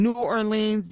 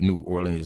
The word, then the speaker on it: New Orleans: You know, it's not New Orleans. New Orleans. I'm I'm a I'm a New Yorker, so I I enunciate. Okay. I I I pronounce synt and and and and I pronounce all the letters that are actually in words.